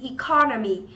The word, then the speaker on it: economy: Economy. Economy thì nó sẽ là trọng âm giám tiết thứ hai, economy.